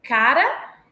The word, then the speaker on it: cara: apresentar as seguintes distinções eu tenho cara e cará Então cara é paroxítona cará oxítona cak caqui cak paroxítona caqui